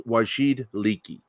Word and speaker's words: Wajid Leaky: That's how you say it, Chris. You're always worried you mispronounced, but it's Wajid Leaky.